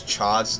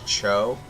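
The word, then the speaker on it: Chaud: about how to pronounce Chad's name as Cho it's not Cho definitely not show it's Chad it says it and it's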